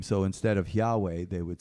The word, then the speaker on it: Yahweh: a custom where they would not pronounce God's word fully God's name fully which is Yahweh which means I am or the great I am but they they would pronounce it yah to speak of God's